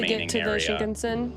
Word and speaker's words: Shinkansen: Shinkansen. Shinkansen.